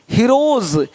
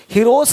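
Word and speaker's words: heroes: हीरोज, हीरोस नहीं, देख रहे हो, रुपीस नहीं रुपीज, ज का साउंड आ रहा है हल्का सा।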